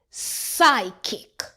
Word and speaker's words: psychic: PS says S. The P is silent. Psychic.